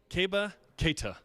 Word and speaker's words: Keba Keita: SPOKE WITH KEBA KEITA AFTER PRACTICE LATE LAST WEEK. KEBA KEITA. THAT'S CORRECT P PRONUNCIATION.